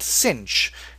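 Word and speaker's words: sinh: So we're going to call it cinch. This one rhymes with finch very nicely.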